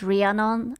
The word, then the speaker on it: Rhiannon: I don't like this person because their name is Rhiannon and it rhymes with Trianon, and as a Hungarian I find it problematic.